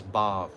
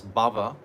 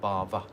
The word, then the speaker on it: bhav: This bhava means material existence. But bhav means spiritual emotion. Doesn't have an accent on the A. Many times I've heard people say this wrong pronunciation. It's bhav bhakti, not bhava.